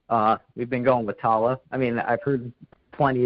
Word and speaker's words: Tallah: yeah that's correct uh we've been going with Tala I mean I've heard plenty of different ways of pronouncing it but that's how the members of